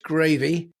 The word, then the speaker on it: Graeve: hold of you, uh it's a bit confusing because you call yourself Data Coach Gravy. Uh, but that's because of your surname. Uh, which is spelled G R A E V E, right?